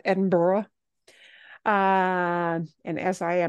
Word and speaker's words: Edinburgh: and I think actually if you're going to be proper Edinburgh right not Edinburg but Edinburgh uh and as I